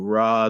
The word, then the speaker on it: Ra: they linked zeus to ra the sun god or rey however you want to pronounce it and they linked imotep